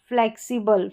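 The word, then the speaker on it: flexible: ये फ्लैक्सी, फ्लेक्सिबल, फ्लेक्सिबल या फ्लेक्सिबल, इस तरीके से।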